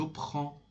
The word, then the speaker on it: prends: The pronunciation, be careful about the pronunciation and pay attention. Je prends, je prends. Don't say je prends. Je prends. D and S is not pronounced at the end of the word.